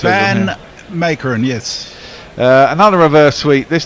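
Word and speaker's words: van Meekeren: How are we pronouncing him correctly? Who are we on now? Sorry. Van Makeren is what it says. Van Makeren, yes.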